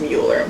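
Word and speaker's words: Müller: She won Hockey East Co-Player of the Year alongside Alina Muller in 2021, which I think is really funny. Her name is pronounced Mueller.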